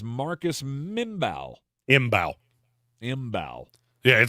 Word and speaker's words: Mbow: Imbow. Yeah, it's pronounced exactly how it's spelled.